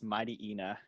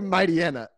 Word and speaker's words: Mightyena: time please my Tina I say Mightyena that's how I say it - there's an e in the middle and the at the